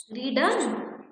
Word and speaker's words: read: रीडन. रीड की third form क्या होती है बेटा? रीड, रीड, रीड, रेड, रेड, और तीनों में स्पेलिंग सेम ही है, READ, READ एंड READ.